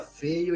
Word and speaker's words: Feyo: dizer meu sobrenome pessoal é feio f e y o é feio mesmo se pronuncia feio e tal então assim